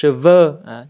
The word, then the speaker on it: cheveux: cái bài trước đó, les cheveux, đọc hình âm thanh là ơ, còn les chevaux, âm thanh là ô, nó khác nhau như vậy.